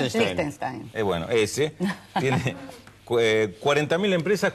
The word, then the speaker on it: Liechtenstein: El Principado de Liechtenstein, ¿cómo se pronuncia? Liechtenstein.